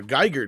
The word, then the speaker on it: Giger: lot of what uh geiger did for or giger however you want to pronounce it did for uh hardware